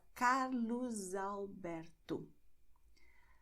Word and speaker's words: Carlos Alberto: And you also have the sound Z when you have the letter S at the end of the word and the next word begins with a vowel. It sounds complicated in theory, but in the example, it will be clear to you. You have Carlos Alberto. Carlos ends with S, but Alberto begins with a vowel. So you're going to say Carlos Alberto.